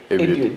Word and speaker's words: Abiud: It's not, you say it differently, so it's Abiud. You see, Abiud, and I'm saying my own things.